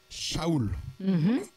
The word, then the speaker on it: Shaoul: été écrit en grec alors en grec le son ça n'existe pas en Fran on peut le reproduire le S et on peut mettre un H ou un c un H pour faire ch mais il y a pas de H en grec alors tous les noms qui ont le son che dans le grec on met un S